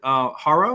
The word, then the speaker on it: Harrow: And so we have Susan, and is it Harrow? It's Harrow like sparrow.